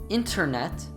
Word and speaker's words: internet: Some other common examples where you can hear the emission of the NT sound are I went out, I went out. Internet, internet. International, international.